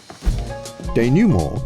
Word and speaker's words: denouement: didn't know you meant that's not how it's pronounced de newmore is the final outcome of a story where the main conflicts of the narrative are concluded from french denewmore literally translates as untying if we imagine